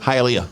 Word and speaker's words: Hialeah: Hialeah Florida Hialeah how do you say it Hialeah hi Alia hi Alia hi yeah how you